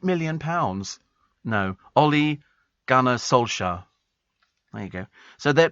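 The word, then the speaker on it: Ole Gunnar Solskjær: in compensation to um to the sacking of olar Gunner how' you pronounce his name olle Gunner Sola all right 8 million no Ole gner Sola there you go so they're they're prepared to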